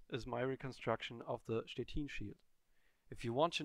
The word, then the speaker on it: Szczecin: Quick disclaimer, even though my whole family is from Poland, I don't speak any Polish, so for the remainder of this video, I stick with a German pronunciation, Szczecin. In this video, we want